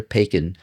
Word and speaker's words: Paykin: Today we're here with Alexander Pacin from Pacin Law. Did I pronounce that properly?